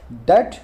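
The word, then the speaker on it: debt: देखने में तो डेप्ट ही लग रहा है, पर इस बीच में बी नहीं आता, इसमें बी साइलेंट होता है, ठीक है ना।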